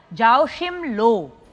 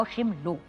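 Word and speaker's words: Joachim Löw: बताओ एस टी वाई नहीं बेटा रंग आंसर जाओ शिम लो जे ए ओ सी एच आई एम एल ओ डब्लू ओशिम लो इज the right answer मुश्किल नाम था मैंने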